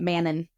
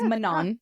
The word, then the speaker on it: Manon: Okay, so Manon. I was saying it Manon. Yeah, it's not. It's Manon. Yeah.